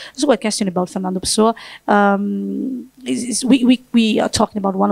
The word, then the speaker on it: Pessoa: la poesia di Fernando Pessoa. Noi diciamo Pessoa, what's the right pronunciation? Pessoa, e noi siamo vocalici, quindi diciamo tutto.